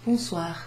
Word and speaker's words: bonsoir: O and I together, O-I, makes a wa sound, a kind of wa, oo, wa. This O-N is sort of pronounced on. We don't really have that exact sound in English, but you'll get used to it.